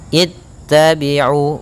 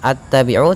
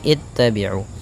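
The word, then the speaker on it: اتَّبِعُوا: nanti dia tetap kasrah maka di sini itabiu bacanya bukan attabiu tapi itabiu Kemudian itabiu pada lafal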